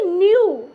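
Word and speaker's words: new: साथ आया हुआ है, तो इस ई डब्ल्यू का हम क्या उच्चारण करेंगे, यू उच्चारण करेंगे। क्या करेंगे, यू उच्चारण करेंगे। तो देखिए इसे हम पढ़ेंगे न्यू, क्या पढ़िएगा, न्यू।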